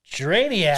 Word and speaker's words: Drainiac: Oh, Drainiac.